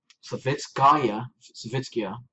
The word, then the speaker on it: Savitskaya: And Savitskaya, that's how you pronounce her name.